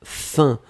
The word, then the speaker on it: faim: On le prononce fin comme f.